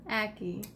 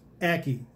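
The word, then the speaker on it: ackee: Did I say that? Aki. Aki. I put a lot of emphasis on the last part. We looked it up. We Googled it. Yes, and she was right and I was wrong.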